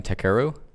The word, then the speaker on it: Takeru: And so he, Takeru Kobayashi, man, Kobe. That's what they call him, Kobe. How do you say his first name? Takeru?